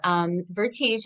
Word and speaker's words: Vertige: So just so everybody knows, it's Vertige, and it's spelled Vertige.